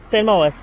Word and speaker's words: St. Mawes: How to pronounce St. Mawes or St. Mawes? Is it? St. Mawes.